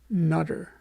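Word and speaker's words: Noether: a wonderful mathematician named Emmy nutter it's spelled noe th ER so and she was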